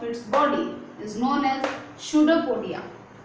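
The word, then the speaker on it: pseudopodia: देखिए, पी इधर साइलेंट है, इसे गलती से भी पिसिडियोपोडिया मत बोलना, प्रोनाउंसिएशन शूडोपोडिया कीजिए, ठीक है।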